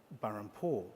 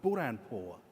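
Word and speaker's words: Burhanpur: I ended up founding burr and Paul but in fact it wasn't called burr on port it was caught boar and poor I was pronouncing it wrong and in fact I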